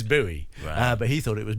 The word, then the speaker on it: Bowie: Jim buoy no that's the correct pronunciation is buoy but he thought it was Bowie um so everyone everyone's